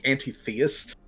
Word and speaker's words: anti-theist: You wouldn't pronounce it atheist. You'd pronounce it antithesis. She's anti-theist.